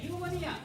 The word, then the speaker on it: pneumonia: read it another way When we say pneumonia, we say pneumonia. But when we spell it, we spell it with a p before the neumonia. What is the need for that mute p before the word?